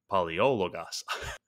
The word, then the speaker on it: Palaiologos: Palaiologos. That's a bit of a mouthful. Yeah, no, that's how you say it.